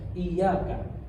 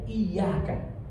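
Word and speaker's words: إِيَّاكَ: Iyyaka tadi artinya hanya kepada Engkau dengan ditasydid huruf ya, digandakan huruf ya-nya. Iyyaka. Kalau ditakhfif tanpa ditasydid, tanpa digandakan huruf ya, kita hanya bacanya iyyaka na'budu wa iyyaka nasta'in. Artinya berubah. Tadi iya kan, tadi artinya hanya kepada Engkau, tidak kepada yang lain. Tapi kalau iya kan, itu artinya cahaya matahari.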